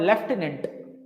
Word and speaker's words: lieutenant: ये ऐसा वर्ड है जो प्रोनाउंसिएट होता है एफ के साथ, बट इसमें एफ कहीं है ही नहीं। आपने सुन रखा होगा, you must have heard लेफ्टिनेंट, आपने सुन रखा होगा